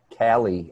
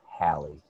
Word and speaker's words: Hallie: I was calling her Callie, and then the last day of school, she finally told me her name is Hallie.